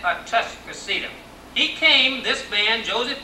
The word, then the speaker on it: Atascocita: But the old timer said, Tuscocita. They did not say Atas. Now, I would not tell you the correct pronunciation. I can only tell you how my pappy and his pappy before him said it. They said Atascocita.